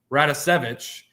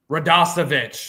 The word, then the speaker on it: Radosevich: And Eddie Radosevich, I said it wrong, didn't I? Radosevich.